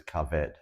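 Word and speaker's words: כבד: Well, the Hebrew word for liver is kaved. Kaved. But there's another word that's spelled with the same letters, and it's pronounced kavod.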